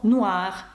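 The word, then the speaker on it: noir: разу казала про каву Нур ви бачите слово Нуар о і передає звук уа фгра буж паф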